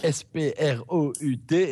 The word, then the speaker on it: Sprout: Et donc, c'est pas Sprout, c'est Sprout. Ça s'écrit S-P-R-O-U-T. Et donc, c'est Sprout.